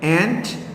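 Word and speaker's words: aunt: ठीक है, masculine gender में अंकल और फेमिनिन जेंडर में उसकी फेमिनिन एंट भी पढ़ते हैं, इसको आंट भी पढ़ते हैं, लेकिन ज़्यादा अप्रोप्रिएट इसको आंट पढ़ना चाहिए।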